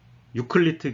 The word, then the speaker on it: 에우클레이데스: 그걸 이제 알아보는데 결국 이게 수학에서도 그러니까 삼각형의 내각의 합이 180도라고 하는 거는 그 유클리트 기하 이게 저희 세대에서는 유클리트라 그랬는데 요새는 그 비에우클레이데스 그러니까 에우클레이데스라고 읽는다니까 어쨌든 그걸 따라서 그러니까